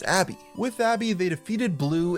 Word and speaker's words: ABBBBBBK: They nicknamed it ABBBBBBK, which fans later decided to pronounce as Abby.